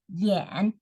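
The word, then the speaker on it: 眼: writes like this and pronounce this as Yen the third tone so you go down first and then you go up so falling from first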